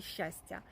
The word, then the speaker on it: щастя: І ось тому і наголос у слові щастя падає на перший склад.